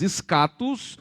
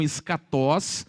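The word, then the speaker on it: ἔσχατος: Escatologia é a junção de duas palavras gregas, escatos, alguns pronunciam escatós, a maioria dos professores de grego pronunciam escatós, ou escatas, unido à palavra logos.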